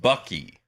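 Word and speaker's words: Buc-ee's: It's pronounced Bucky. Bucky.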